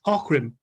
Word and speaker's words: Aughrim: It's the that Andy following got year, taught- and it's called the Battle of Ockram. It's spelled Aughrim, but it's pronounced Ockram.